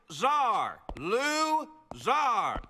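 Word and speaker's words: Zarlouzar: my name is it is pronounced czar lou zar this is tricky little calcometry 101.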